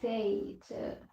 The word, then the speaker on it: zeta: English pronunciation is zeta.